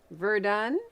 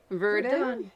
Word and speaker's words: Verdun: Verdun, Verdun. Verdun, or Verdun. Depends on if you're French.